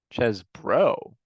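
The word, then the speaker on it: Chesbro: sorry how do you say his name Jack chz bro I've been saying that wrong this whole time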